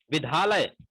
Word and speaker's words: विद्यालय: यह देखते हैं कि हम द को ध पढ़ देते हैं। विद्यालय, हमें विद्यालय जाना है, विद्यालय खुले हैं, ऐसे उच्चारण अक्सर सुनने में आते हैं।